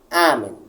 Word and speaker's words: amen: Amen, amen, automaticamente a primeira se torna tônica.